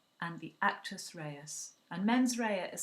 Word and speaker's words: mens rea: a criminal act you have to have the men's Raya which is the mind and the actus Reyes